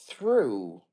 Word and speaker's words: through: go I got it but there is through like true correct exactly you're getting